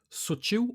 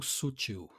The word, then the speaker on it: sutil: só mais duas rapidinha Sutil ou Sutil os dois também também Sutil e Sutil e alguns em alguns lugares dependendo da literatura Subtil com b Sutil sem acento a característica do que